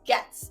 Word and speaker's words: Goetz: I explain it but basically the O is silent and it's the runon words of me getting creative so Kayla gets creative and I try